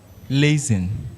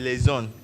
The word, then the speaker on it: liaison: Lazen. Lazen. Yeah. It's liaison, a French word.